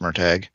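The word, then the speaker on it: Murtagh: um so it's called merag spelled MOG but pronounced merag um So currently reading that I'm about 150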